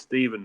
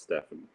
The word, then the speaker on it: Steven: It's Steven, by the way, not Stefan.